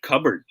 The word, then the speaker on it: cupboard: you guys are correct here is the proper way to say this one yan cupboard we don't pronounce the p okay except cover if